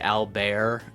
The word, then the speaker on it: Albert: is The Stranger by Albert Camu. I can't bring myself to say Albear and try to pronounce it uh as accurately as possible.